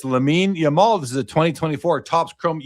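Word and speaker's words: Lamine Yamal: It's Lamein Yamal.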